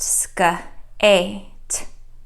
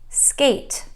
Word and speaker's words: skate: The next word is spelled S-K-A-T, silent E, and this word is pronounced skate, skate.